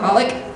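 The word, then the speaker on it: xxxHOLiC: Oh, Holic. That's what's wrong. You don't pronounce those X's.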